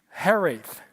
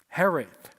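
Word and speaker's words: hiraeth: I think I think the word is pronounced something like this is going to be brutal. Herith. Herith.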